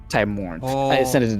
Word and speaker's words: Timorn: Not Timor. Timorn.